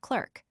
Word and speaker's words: clerk: A u sound as everyone knows gets into the American pronunciation of clerk by analogy with insert.